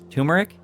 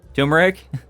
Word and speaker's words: turmeric: Uh, turmeric. Turmeric. I always mispronounce it because there's an R in there, but put some turmeric,